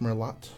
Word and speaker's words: Merlot: I think it's pronounced Merlot.